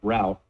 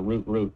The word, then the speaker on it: route: Our root.tsx is sort of the root route, or root, if you're from one of those weird countries that pronounces those two words the same.